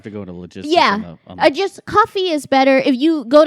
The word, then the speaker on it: Ko-fi: I got rid of Patreon and I went to, I think it's supposed to be pronounced coffee, but it's KO-FI.